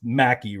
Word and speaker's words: Mackie: And now, if I say this last name wrong, I'm sure it's just Mackie, right? That's how you say it? Yeah, you got it.